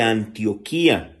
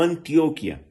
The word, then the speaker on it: Antioquía: era la iglesia de Antioquía, no Antioquia, no, Antioquía, se escribe igual, pero con tilde en la I, en la iglesia de